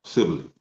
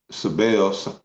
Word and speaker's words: Cybele: So that's how they pronounce it, Sibylle. I was saying Cybele, but Sibylle.